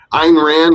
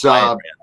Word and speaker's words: Ayn Rand: Am I pronouncing that correctly? Ayn Rand was, Ayn Rand.